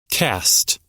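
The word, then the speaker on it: caste: Cast. Casts. Okay. So, it's just cast, but it's spelled C A S T E.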